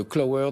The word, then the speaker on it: Qlower: beaucoup pour ses explications christophe duprat cofondateur de clowe heures donc ça s'écrit qu elle au w es application qui